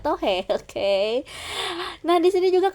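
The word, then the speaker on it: tò he: Barang yang paling sering dibeli adalah keramik desa Tan Ha yang terkenal dan tohe atau patung mainan gitu ya, bacanya tohe.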